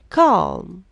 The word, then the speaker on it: calm: Calm, silent L.